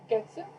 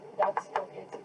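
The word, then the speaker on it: 月: But Japanese months, like moon, first month is, well, it's pronounced getsu, or that's getsu either way.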